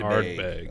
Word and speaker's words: Ardbeg: Artbeig. Artbeig. Did I spell that right? ARD. Oh, D. Ardbeig. Ardbeg.